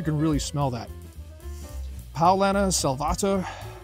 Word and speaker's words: Salvator: really smell that palana salvata or salvator uh you'll hear it pronounced sometimes very malty get